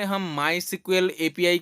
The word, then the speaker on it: SQL: अब इसको एसक्यूएल कह भी सकते हैं, लेकिन इसका जो प्रोनाउंस है वो सीक्वल है।